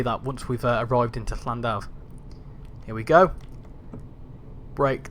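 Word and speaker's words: Llandaf: So to pronounce a double L sound, it's like a... So put your tongue at the roof of your mouth and just blow. Go like that. Like you're hissing like a cat.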